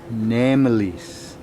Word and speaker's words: Ngemlis: It's called Ngemlis. Namelis. Okay. Ngemlis. Namelis. You get it, the NG is Namelis.